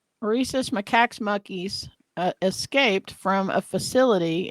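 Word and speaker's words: macaque: s Maca you totally said it right reesus macca monkeys escaped from a facility in Columbia South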